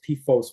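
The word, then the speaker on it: PFOS: about posos and pooa pronounce posos with long o and then you'll people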